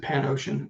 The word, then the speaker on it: Panosian: search for Zoop and potosian you're gonna find it and I'm sorry say your name again Dan because I keep saying it I pronounce it pan ocean it's just easy yeah but uh I